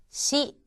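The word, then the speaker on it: し: 우선 사행에 들어가는 5개의 글자는 사, 시, 스, 세, 소였고 이 중에서 시라고 하는 것은 여러분들께서 너무 시 하는 식으로 강하게 발음하지 마시고 시원하다 할 때 시와 비슷한 발음을 하시면 되겠습니다. 다음은 오늘 익히실 5개의 글자가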